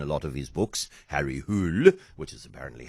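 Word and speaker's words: Harry Hole: This one doesn't feature a detective who is in a lot of his books, Harry Hul, which is apparently how you pronounce the name, which is spelled H O L E.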